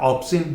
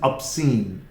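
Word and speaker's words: obscene: पहले प्रोनाउंसिएशन में ध्यान दीजिए, इसकी बिगनिंग ओ से होती है, इसलिए अधिकांश स्टूडेंट इसको ऑब्सीन बोल देते हैं। इट्स नॉट ऑब्सीन, this is ऑब्सीन।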